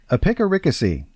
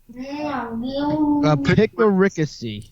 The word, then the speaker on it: epicaricacy: Epicaricacy. Epicaricacy. Yeah, epicaricacy. It is spelled EPIC, epic, ARI, and then CACY. And the stress is on the 3rd syllable. So it's like epicaricacy. Epicaricacy.